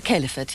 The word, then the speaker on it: caliphate: You pronounce it caliphate? The caliphate, yes.